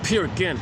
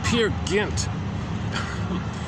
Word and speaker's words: Peer Gynt: Yeah, Peer Gynt. The phone doesn't read it, doesn't pronounce it properly. Peer Gynt.